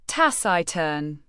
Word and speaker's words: taciturn: Taciturn. Pronounce it as ta-si-turn. The tac sounds like task without the k. I is a short I like in it and turn sounds like turn.